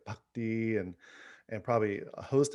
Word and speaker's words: bhakti: dialoguing with darren because he doesn't say bhakti he says bhakti the true pronunciation okay well let's let's